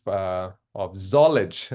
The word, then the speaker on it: Zollege: And then finally, Elise is on the board of Zollege. Is that right? Did I pronounce That's it right? correct. You got it right. Yes. Perfect. College with a Z.